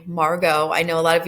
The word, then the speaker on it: Margot: that's Margo and then again that's how you pronounce her name Margo I know a lot of you're going to want to call her Margot but it's Margo so I'm asking you look